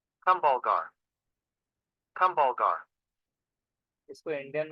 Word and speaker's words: Kumbhalgarh: तो प्रोनाउंस कैसे कर रहे हैं। Kumbhalgarh.